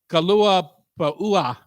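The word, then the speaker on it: kalua pua'a: Mango cabbage slaw, true Hawaiian macaroni salad, kalua pa'ua. You have to pronounce all the vowels.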